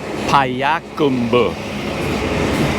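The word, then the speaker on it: Payakumbuh: name of this town the town is called payakumba people say it with a different Rhythm I can never get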